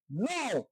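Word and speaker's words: know: খে এন ও ডাব্লিউ, নো মানে জানা। এখানেও খে বাদ গেছে।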